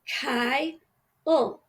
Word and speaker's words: Kyle: So Kyle, It's Kyle, K-Y. That's called an open syllable because the Y is long. It says I.